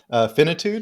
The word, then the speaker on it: finitude: Finitude?